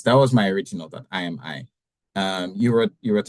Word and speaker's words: I Am AI: you say the name I say I am I and it's like meant to trick people into thinking which one it is okay that was that was my original that I am I um you wrote you